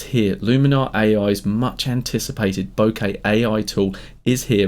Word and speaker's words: bokeh: of our photo according to my research it's pronounced like this the right answer in japanese is bokeh but let's not get too hung up on